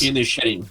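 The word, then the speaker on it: Inisherin: A gente tem nada de novo no Fronte, Avatar, o Caminho da Água, os banchis de Inerim, não sei se assim pronuncia, Elvis. Inxerim, Inxerim.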